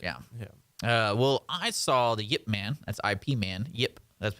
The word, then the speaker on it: Ip Man: I understood and remembered a little bit the Yip Man was based off of a man there's a yep yep that's why that's how they pronounce it it's not a fine bride whiip